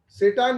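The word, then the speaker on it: Tsetan: He hired Setans, ये भी T silent है। सेटान भी एक बंदा है जो ड्राइवर है, टूरिस्ट गाइड समझिए।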